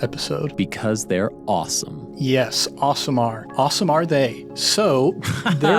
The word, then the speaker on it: Aasimar: I believe the pronunciation is Aasimar, I want to say. Yeah, a couple of different pronunciations. Aasimar, Aasimar. Aasimar. Aasimar. I just call it Aasimar. Yeah, the one that I think Chris Perkins has settled on is Aasimar.